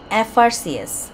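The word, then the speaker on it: FRCS: false into দা বে of Bengal he ইজঅান এফ আর সিএস এফ আর সিএসযে এফ উচ্চারণ করার সময় এ উচ্চারণ করতে হচ্ছে না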